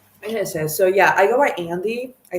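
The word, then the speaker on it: Andie: Um, so yeah, I go by Andy. I spell it A N D I E.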